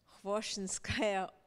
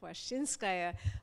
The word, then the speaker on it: Khvoshchinskaya: not aware that of what is probably the correct pronunciation is with the accent on the first syllable, and I have for 25 years been calling her Khvoshchinskaya, but there are strong arguments for Khvoshchinskaya.